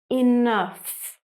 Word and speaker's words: enough: Enough. So sometimes, with some words in English, GH is placed at the end of the word and is pronounced F, like enough.